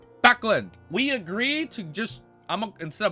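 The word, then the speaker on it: Backlund: Wait, no, it's not Buckland. Wait, hold up. I got it open. It's right here. Ready? Backland.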